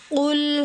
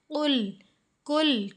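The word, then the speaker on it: قل: क़ुल। कुल कुल की आवाज़ नहीं आनी चाहिए।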